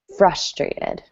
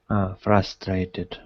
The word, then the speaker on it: frustrated: Um, Anatoly, just remember the first syllable has the emphasis. Frustrated. Frustrated.